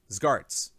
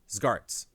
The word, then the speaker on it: Zgarts: Zgarts. Pronunciation note, it's one unhyphenated word. Zgarts.